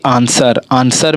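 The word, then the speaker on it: answer: जैसे कि आंसर में हमारा क्या है, डब्लू साइलेंट है, ठीक है।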